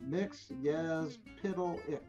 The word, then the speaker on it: Mxyzptlk: And they answered with Mxyzptlk. That's the correct pronunciation.